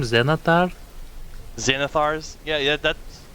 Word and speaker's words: Xanathar: I always thought it was Xander. No? Xander, guide to everything. I'm pretty sure it's supposed to be Xanathars because there's a second A in there.